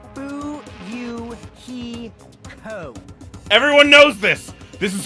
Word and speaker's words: Fuyuhiko: last name is my first name is pronounced boo you he co everyone knows this this